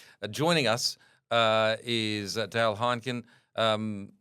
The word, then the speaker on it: Heinken: us uh is Dale Heineken. Um it's spelled like Hineken but without the extra e.